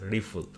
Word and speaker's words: RPL: to the rpl rifle it's pronounced rifle not rpo the actually the name is rpl rplp it is pronounced rifle so according to the